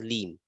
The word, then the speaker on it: Hleem: It is written as Halim, it's pronounced as Leem. Leem. Leem. HLEEM, Leem.